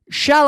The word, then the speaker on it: shall: This shall, because we're not talking about salt in Spanish. We're not talking about sal. Sal no vale. Ni pimiento. Estamos. We're talking about shall.